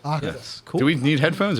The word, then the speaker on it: OKTAS: wait before we start you pronounce the name O octus octus you got it octus cool do we need